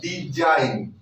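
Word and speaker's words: design: इससे डिजी ना पढ़कर क्या पढ़ेंगे, डिजी ना पढ़कर क्या पढ़ेंगे, जी साइलेंट हो जाएगा, क्या हो जाएगा, डिजाइन, क्या हो जाएगा, डिजाइन।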